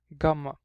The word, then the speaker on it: Ghamma: have is the letter Ghamma. This is the letter Ghamma or Ghamma, because actually, sorry, it's pronounced as a Gha. It's a letter that does not exist in English, but it's in Arabic.